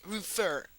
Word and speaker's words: refer: La última sílaba es tónica, es que no se dice refer, no, se dice refer, refer.